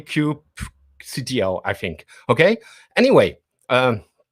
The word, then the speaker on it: kubectl: let's start with the disclaimer how do we pronounce crew CTL is it Cube control doesn't really matter I tend to say Cube CTO I think okay anyway um that was just